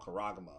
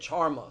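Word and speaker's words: χάραγμα: Then Bishop Nate said it's called charagma. Yep. So he knew it. Yeah, because he said charma.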